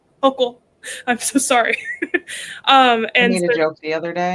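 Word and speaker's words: Hochul: Hok. I'm so sorry. Um and made a joke the other day and it was a good one. I accidentally said Hoel and I'm like I just ruined the joke.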